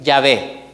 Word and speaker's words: Yahvé: Ellos vinieron y le agregaron las vocales del nombre Adonai. Esas vocales se las pusieron a las consonantes del nombre Yahvé, y por eso es que ahora ya se puede pronunciar y se puede decir Yahvé. ¿Ya? Ese es el nombre original, hermanos, Yahvé.